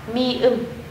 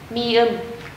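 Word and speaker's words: 미음: Phụ âm này được đọc là M. Tên của nó là mi ưm, mi ưm.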